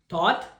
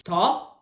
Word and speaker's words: though: So this word is, ought, which means this word is, thought, which means this word is. thaw, No, it's though.